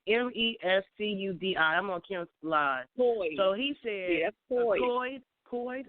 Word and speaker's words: Mescudi: So I'm trying to see how I pronounce his name. Is it Mescudi? It's Mescudi.